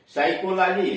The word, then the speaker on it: psychology: हाँ, आपकी बात ठीक है, पी का उच्चारण प होता है, लेकिन शब्द के शुरू में PN आ गया या PS आ गया तब पी साइलेंट है। जैसे साइकोलॉजी है, निमोनिया है।